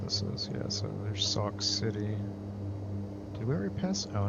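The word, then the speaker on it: Sauk City: prusac and Sock City Sock City oh right it's not spelled like sock it's no s k right a lot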